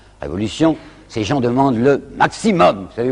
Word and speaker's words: maximum: Ces gens demandent le maximum. Vous savez, aujourd'hui on dit maximum, mais ils disaient maximum, alors je prononcerai comme eux.